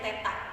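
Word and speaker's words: θ: Ini dibacanya theta, bukan O.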